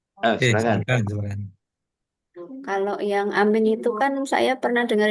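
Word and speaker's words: آمين: Ada yang tadi e mimnya tasdid ya. Nah, yang yang keempat tadi yang imalah yang amen ya. Ngamen jadi ngamen. Nah, itu yang ee banyak dikritisi ya. tidak e para ulama tidak enggak enggak enggak kuat mungkin anu ya ada dasarnya yang yang di yang afsah adalah amin atau amin. Jadi mimnya pakai ee musyadd.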